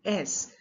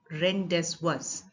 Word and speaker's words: rendezvous: For example, the word rendezvous, which is spelled Rendezvous. Normally, if you were to just read the letters and pronounce, it will be rendezvous. But we pronounce it rendezvous because it has been borrowed from French.